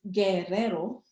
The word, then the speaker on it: Guerrero: surname actually i i it's it's a it's guerrero and it's a spanish surname and in english it